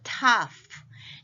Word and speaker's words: tough: 또 tough. GH가 F 발음 납니다.